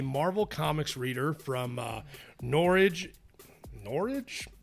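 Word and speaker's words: Norridge: comics reader from norwich norwich illinois sounds like porridge with an n uh named randy shh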